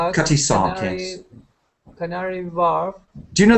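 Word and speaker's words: Cutty Sark: the Cy shark sharks it's not a shark it's a sark it's something to do with it's a tea Clipper in Greenwich C cuty Sark Canary Warf do you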